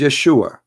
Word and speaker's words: Yeshua: oh and those it isn't because they cannot pronounce the correct word the correct word in the Hebrew is Yeshua as simple as that so it's because it's